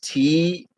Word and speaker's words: T'Challa: Do you think when they introduce Storm, they'll make her a love triangle between T'Challa, lose the H. It's T'Challa. There's no H. It's just T'Challa, not how you say it.